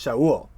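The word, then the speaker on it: שָׁאוּל: the name is actually written in Hebrew and pronounced Showell this is the name of the first king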